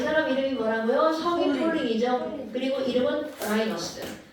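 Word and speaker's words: Pauling: 폴링. 네. 폴링? 폴링. 아니 내가 좀 이제 영어식 발음을 했더니 발음이 그지 같았어.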